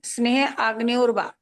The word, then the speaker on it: स्नेहाग्न्योर्वा: स्नेह, किस, स्नेह, स्नेह अग्न्योर्वा, स्नेह अग्न्योर्वा। हाँ इसमें इस प्रकार से करना पड़ेगा, हा के ऊपर थोड़ा सा जोर देंगे ना तो बराबर उच्चारण हो जाएगा अपने आप ही, क्योंकि